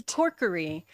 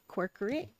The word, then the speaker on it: Corkery: It's Corkery. If you think County Cork and County Curry, Corkery.